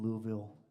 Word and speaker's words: Louisville: up for him at a Catholic church in Louisville, Kentucky, and that's how you pronounce it.